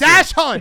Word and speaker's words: dachshund: Dachshund. A dash hunt. Dachshund. Oh, wait. What? How do you pronounce it?